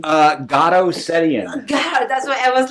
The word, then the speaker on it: Garo: wars so let's welcome him get how you pronounce your first name uh God that's what I was like I was gonna